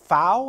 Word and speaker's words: Pfau: And then we have Wade Pfau, I think I pronounced his name, P-F-A-U.